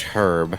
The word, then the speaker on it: herb: right but like uh in the uk it's pronounced herb with a h and um someone call